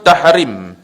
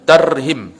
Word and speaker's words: Tarhim: Yang kedua, apabila tahrim, bukan tahrim, betul kan? Tarhim. Tahrim tu maknanya yang hampir pada haram. Maksudnya tarhim subuh tu lah. Tarhim lah. Betul kan ejaan ni? Dia T-A-R, bukan T-A-H.